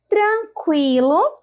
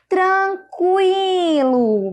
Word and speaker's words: tranquilo: Tranquilo. Vocês conseguiram identificar o U aí no meio dessa pronúncia?